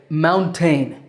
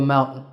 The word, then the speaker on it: mountain: next word is Mountain I sometimes hear my English students say Mountain but that second syllable is ton maybe because it takes a ton of work to climb to the top of a mountain so once again the word is Mountain if you do get